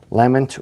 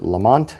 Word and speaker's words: Lamont: So, looking up Lament or Lamont, as the Americans say, we have Lament Ancient, Lament Modern, and Lament Weathered.